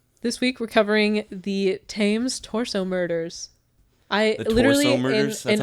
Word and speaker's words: Thames: wrote jesus okay um americanme wants to pronounce this thames t-h-a-m-e-s fames but i'm pretty sure if it has an h in there i would want to say names yeah should